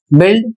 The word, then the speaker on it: build: अगला जो नियम है इसमें लिखा है कुछ शब्दों में यू दूसरे व्यंजनों के बीच फिलर की तरह आता है और बोला नहीं जाता है।